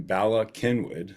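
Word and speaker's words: Bala Cynwyd: down at the river Laurel Hill West in Bala Kenwood that's how that's pronounced that is in Montgomery County just outside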